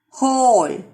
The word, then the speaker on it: whole: Whole. W is silent.